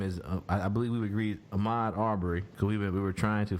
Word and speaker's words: Ahmaud Arbery: young man name is I believe we're agreed Ahmad our burry so we were trying to find the correct pronunciation to say his name out of respect